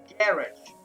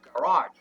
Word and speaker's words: garage: então seguindo essa lógica essa palavra teria que ser seria lida como garot correto correto porém Essa palavra não é uma palavra de origem inglesa é uma palavra de origem francesa então pronúncia correta dela é garar mas não é mas